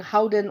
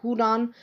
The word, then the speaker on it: Houdan: of the world for Udan okay so the H is almost an accent regardless of how you pronounce it it doesn't matter that much so if you have someone saying Howen or hudan this is the breed